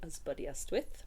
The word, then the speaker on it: Aberystwyth: But then, yes, I learned that it's supposed to be Isbidiestwyth.